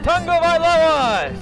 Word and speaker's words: Tagovailoa: Tagovailoa!